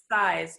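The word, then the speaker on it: Suys: s you Y s it's pronounced size but it's su Y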